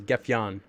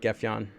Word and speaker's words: Gefion: spock did i get kef john or gephyon i actually somebody somebody told me the correct pronunciation is gefion i did not get gaffion a glitch that got